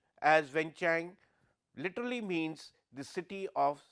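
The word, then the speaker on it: Vientiane: again for the country of La DPR wenang pronounced as wenchang literally means the city of Sandalwood it is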